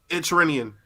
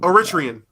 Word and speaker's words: Eritrean: saw this this is the entrenian no Eritrean I said I said it right this time uh black baby is